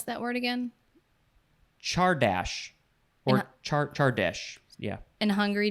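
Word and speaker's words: csárdás: And how do you pronounce that word again? Chardash.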